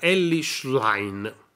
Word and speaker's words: Elly Schlein: gentili telespettatori Buona giornata ellish line mi hanno detto che si pronuncia così candidata alla segreteria del